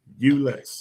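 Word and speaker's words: Euless: That's the That's how you pronounce that city. Ulis, Texas.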